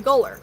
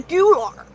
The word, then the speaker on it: gular: Um, so his chin, I used to mispronounce it. Maybe it's cuz I'm from Missouri. It's gu a r. So I called it a gooler. Okay. Not a goullar. It's a goular.